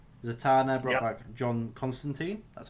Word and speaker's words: Constantine: back John Constantine.